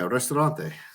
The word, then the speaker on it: Ristorante: Now, is that the pronunciation? Aldo's Ristorante Italiano? Yeah, Ristorante.